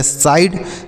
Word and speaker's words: side: अगला है SIDE, तो S से सौ, आई का उच्चारण आई और DE से डॉ, तो यह हो गया साइड।